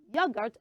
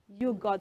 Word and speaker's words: yogurt: to no person okay that is yogurt and not yur so everybody say it